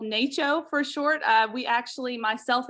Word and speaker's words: NACCHO: I found out that it is pronounced NACCHO and not Nacho, as I had been incorrectly saying for quite some time now.